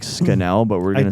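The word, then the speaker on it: Scannell: Um, Vernon Scanel, who gives a what this guy said. His name rhymes with Scanal, dude. Scathing. Say one more time. Vernon Scanel.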